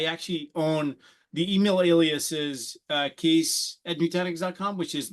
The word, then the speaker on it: Kees: sounds good so um my name is Cas as you were pronouncing it quite correctly thank you for that Ron it took me a while I called you keys for a while I